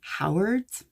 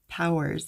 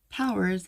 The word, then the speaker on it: Powers: to tell people, because they think I say Howard when I say my name, like over the phone. And then I have to say no, like I either say like Powers as in superpowers or Powers as in Austin Powers.